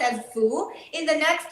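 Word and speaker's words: 福: Fu, we pronounce as Fu.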